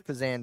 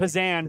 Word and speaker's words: Pazan: Hey, we've been saying his name wrong all weekend. Yeah, it's Pazan, by the way. Pazan. Pazan. Or pecan. Yeah, or pecan.